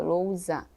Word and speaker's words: lousa: Lousa, ó, lousa, tem um som de Z, é só um S, ó, entre duas vogais, ó, lousa. Tem o som de Z, né, mas é o S, tá?